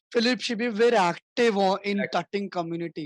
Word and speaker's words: tutting: नाउ you will see टटिंग right now you will be amazed to सी. At that time Correct. People used to call it like ट्यूटिंग, टर्टिंग. हाँ, टर्टिंग pronunciation बोलते भी थे, सही नहीं था.